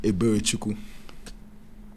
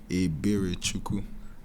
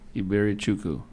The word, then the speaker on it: Eberichukwu: And I try to tell them I just go by, but it's pronounced Eberichukwu. Yeah, it means mercy of God. Say it again. Eberichukwu. Iberichukwu. Yeah. That's the East Tennessee way of saying it.